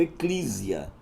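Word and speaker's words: ἐκκλησία: no grego Oi e a gente pronuncia assim eclesial Eclésia né algumas pronunciou Eclésia Alguns ainda pronunciou ekklisia né o Eclésia então de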